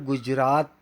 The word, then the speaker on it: गुजरात: यहाँ पर गुजरात त तलवार का बोलना है, ट टमाटर का नहीं।